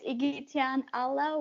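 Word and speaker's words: Igityan Alla: easiest thing to remember but it's trying to pronounce it i couldn't so yeah it's iggy tian allah which spells i g i t y a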